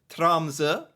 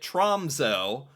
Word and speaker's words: Tromsø: existence of this city trza back then I called it tromo but now I think I'm pronouncing it somewhat correctly I'm a little bit